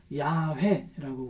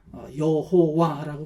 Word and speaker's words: 야훼: 그런 하나님의 이름을 그래도 정확하게 말하면 야훼라고 그렇게 말합니다. 이 야훼라는 이름이 너무나도 거룩해서 이스라엘 사람들은 그거를 발음을 하지 못합니다. 그래서 그것을 그러니까 주 아도나이라고 하는 그 모음을 갖다가 그 거룩한 단어 자음 4개에다가 붙여서 여호와라고 불렀었습니다. 근데 가장 정확한 이름은 야훼라고 합니다.